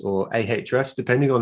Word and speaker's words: Ahrefs: tim solo tim is uh the cmo at hrefs or ahrefs depending on how you're going to pronounce it um but uh let's go with